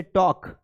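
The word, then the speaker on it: talk: जैसे टॉक तो ए एल के एल के टॉक में एल के साथ में आ रहे हैं। तो जब भी एल के का कॉम्बिनेशन रहेगा वहां पे एल साइलेंट रहेगा।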